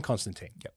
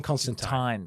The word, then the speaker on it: Constantine: is John Constantine what that is how you were supposed to pronounce his name Joe con John Constantine Constantine yes so why would you say that the American version of that name is John Constantine but John Constantine is an Englishman and Alan Moore who